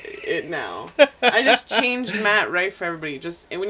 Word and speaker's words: Matt Rife: But Matt Rife, you say it like my wife, like yeah.